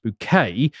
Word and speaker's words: Bucket: One of the daughters of this family, Hyacinth Bucket, pronounced Bouquet, is aspirational and wishes to go upwards.